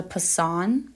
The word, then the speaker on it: Poisson: for a given mean the Poisson that is how you pronounce it random variable has the